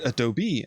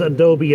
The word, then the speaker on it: Adobe: Oh, this is Adobe Premiere, and or Adobe, as I've learned that it's pronounced, but I just can't make my brain do it.